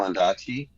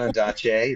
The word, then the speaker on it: Ondaatje: Michael Ondaatje. I just found out that I've been saying his name wrong my entire life. Oh, no. It's not Ondaatje, it's Ondaatje. Right from the man himself.